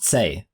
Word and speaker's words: Tse: I don't know how to say that. I feel like it's pronounced say, like say.